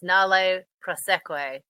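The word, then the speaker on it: nolle prosequi: Correct spelling is Nolle. So it's Nale Proseque, and it will no longer prosecute.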